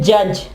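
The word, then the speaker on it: judge: Sorry, D जो है वो साइलेंट होगा, डी जो वो आवाज नहीं देगा। ठीक है, इसकी एग्जांपल है जज।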